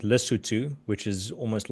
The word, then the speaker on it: Lesotho: There's a country, I'm going to butcher the pronunciation, Lesotho. It's just right landlocked. Lesotho. Lesotho.